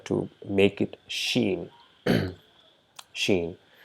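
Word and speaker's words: شين: Sheen. So the English equivalent of Sheen is SH, the sound that is produced by SH, like shine, right?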